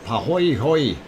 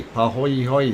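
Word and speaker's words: pāhoehoe: So pahoy hoy, pronunciation A-OK. Okay, pahoy hoy.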